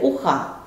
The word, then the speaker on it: уха: Сколько звуков в слове уха? В слове уха три звука. У, х, а. Сколько слогов в слове уха? В слове уха два слога. У, х. Поставьте ударение. Зовем слово. Уха. Ударный слог второй.